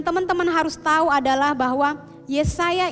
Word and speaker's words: Yesaya: Yang teman-teman harus tahu adalah bahwa Yesaya ini adalah dalam bahasa Ibrani biasanya dibacanya Yasaya.